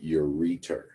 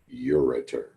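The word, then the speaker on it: ureter: from each kidney and those tubes are called the the uors some people pronounce them urer I pronoun I prefer the pronunciation uror and in a minute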